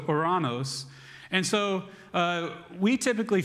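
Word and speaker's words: οὐρανός: opening for me and it's spelled o o u r a n o s so oranos and so uh we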